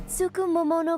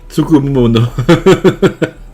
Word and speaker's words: Tsukumomono: Welcome to Tsukumomono Groceries. We've got everything you need. C'est Tsukumomono. Find something. Tsukumono. Elle le dit tous les jours, c'est normal qu'elle peut le prononcer correctement.